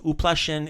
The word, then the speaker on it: uplašen: So uplašen is the male word. Uplašen, Tony. Uplašen? So uplašen. Remember the u is on the first syllable.